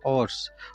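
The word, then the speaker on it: hours: है, रूल्स ये है ओ से पहले अगर एच आता है तो एच साइलेंट होता है, और साइलेंट होने की वजह से हमने एच इसमें पढ़ा ही नहीं, इसमें एच को बोला ही नहीं बोला तो ये जो वर्ड है उसका हमने प्रोनाउंसिएशन किया ऑर्स, तो ओ से साउंड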